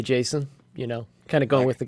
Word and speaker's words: JSON: then you can argue if it's pronounced Jason or Jason, Yeah. which Douglas Crockford, the gentleman that coined that term, says Jason. Jason. It's Jason, like a person.